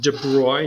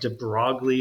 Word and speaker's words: de Broglie: about their boy today so is pronounced deploy not too broadly or de broccoli I think a lot people make fun of his name to broccoli now you might see